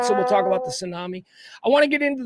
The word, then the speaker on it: tsunami: The key is silent. You look like an You call it a two tsunami, you know. You got to call it a tsunami.